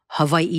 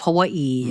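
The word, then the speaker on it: Hawaiʻi: proper terminology and pronunciation, Hawaii instead of Hawaii, and making it more accessible to the masses.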